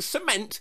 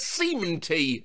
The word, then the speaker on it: cement: My entire life, I've been pronouncing cement as cementy, and no one corrected me till now.